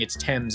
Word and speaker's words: Thames: Is it pronounced Thames or Thames? I remember reading that in a book once and going, why isn't it pronounced Thames? And hearing someone pronounce it going, it's Thames.